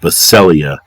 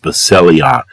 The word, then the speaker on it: Basileia: So the word for Revelation 1 verse 9 in the word kingdom is pronounced Basileia. It's B as in boy, A-S-I-L-E-I-A, pronounced Basileia.